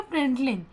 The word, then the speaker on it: println: और LN एक अलग वर्ड है लेकिन हमको उसको प्रिंट लेन के साथ लिखते हैं, उस प्रोनाउंस करते हैं प्रिंट लेन।